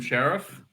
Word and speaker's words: Sharif: Is that how you pronounce his name? Yeah, everyone calls him Sheriff.